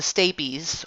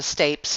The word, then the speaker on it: stapes: that incus attaches to the stay peas or the stapes however you want to pronounce it this little just this